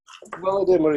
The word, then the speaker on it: Volodymyr: Let's call on Volodymyr. Volodymyr, are you there? Does he have a mic? Yes, I'm here. Hello, Volodymyr. How do you pronounce your name correctly? Volodymyr is okay.